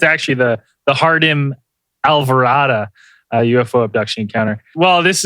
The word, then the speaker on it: Jardim Alvorada: on a I was like how do I pronounce this again uh and it's it's actually the the hardem alvara UFO Abduction encounter well this is a Valentine's